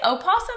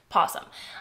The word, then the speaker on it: opossum: more than 70 possum do you say opossum or possum i mean we say possum in the south but like do other people say opossum because that's how it's spelled anyway one of 70